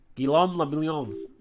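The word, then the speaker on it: Guillaume Le Million: meant only one thing guillaume lamillion if it doesn't rhyme you're not pronouncing it right okay drama thanks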